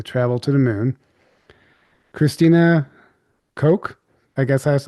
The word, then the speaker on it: Koch: Christina Koch, I guess that's how you say it. Yeah, Coke, like the Koch brothers.